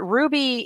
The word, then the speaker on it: RWBY: Watch Ruby, you guys. For those of you who are completely unfamiliar with what I'm talking about, it's that anime about girls spelled RWBY, pronounced Ruby.